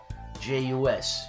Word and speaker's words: jus: J-U-S, jus. And that's the way it's pronounced.